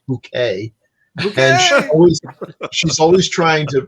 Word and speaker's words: Bucket: plays uh mr mr bucket that's his last name he marries this woman who's this terrible social climber and insist that they pronounce it bouquet and she's always trying